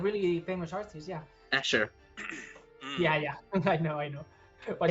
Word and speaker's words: Escher: Yeah, Escher. Mm. yeah. I know. What It's do you mean? pronounced Esker. Definitely.